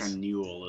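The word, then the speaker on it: Akanûl: Sea of Fallen Stars, usually near Akanol, I think is how that's pronounced. Near Akanol. It's got a little accent on it. But it is not close to you guys. Akanul is how that would be said.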